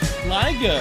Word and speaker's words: Liger: Liger, which rhymes with tiger, dropping in after a stream of...